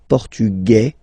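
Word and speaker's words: portugais: The Feminine form okay masculine portug you don't pronounce the S feminine form portuges your pronounce this z sound okay and then ESP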